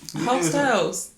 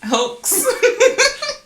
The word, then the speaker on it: Heaux Tales: Hotels. What? Hotels. Hoax. The X is silent, though. No, what if I wanted to make it not silent? No, but anyway. The X is silent, dog. It's hotels.